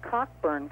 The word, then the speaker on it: Cockburn: You're one of them, and another one, another family, is this Cockburn family. That's how I pronounce it.